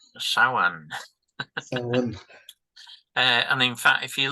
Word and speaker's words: Samhain: So, Samhain, pronounced Samhain.